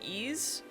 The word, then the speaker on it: Ys: I've heard a lot of people say ease. So that's what I go with.